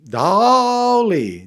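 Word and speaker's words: Dalí: Dolly. You got to say it like that cuz it's like when Salvador Dolly would speak to people, he would be like, "I am Salvador Dolly."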